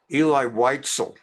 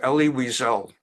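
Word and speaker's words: Elie Wiesel: a whole term and emerged calling him Eli Whitel instead of Ellie Weisel.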